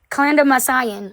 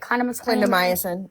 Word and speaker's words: clindamycin: She's on that and clindamycin, or how do you say it? Clindamycin.